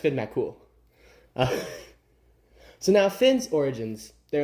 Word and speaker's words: Finn MacCool: It's pronounced Finn MacCool.